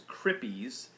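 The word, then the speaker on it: CRIPPIS: And you can remember it, the acronym is CRIPPIES, kind of like hippies, but it's spelled C-R-I-P-P-I-S, CRIPPIES.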